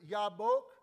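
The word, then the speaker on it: יבק: it out loud yeah the jbic in Hebrew it's yabok and the word wrestle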